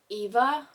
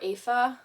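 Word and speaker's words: Aoife: Lynch and his girlfriend I think you pronounce it Eva or AA it's okay so how you spell her name is a o i f e and I'm pretty sure the pronunciation in the beginning of the book said that you pronounce it like AA but with an F like AA I could be wrong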